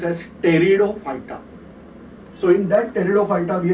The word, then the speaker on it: Pteridophyta: I am saying this is as, I am writing P, but they are practically, I have to pronounce as Pteridophyta.